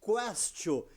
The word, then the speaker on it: questio: Porque Castio lembra questionar, porque em latim se pronuncia questio.